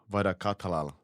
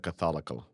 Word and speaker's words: Wadaketh: Joe vatal no no I pronounce it wrong I I had it right right Joe v no V Catholic Joe what Catholic perfect you forgot the case Catholic that's a